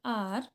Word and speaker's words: hour: Here for R H is silent, that's why we pronounce it like R.